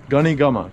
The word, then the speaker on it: गनी खम्मा: Gani gama. Gani gama. Gani gama. Gani gama. Gani gama. It always takes me quite a few times to repeat it in my head to get it down. Gani gama.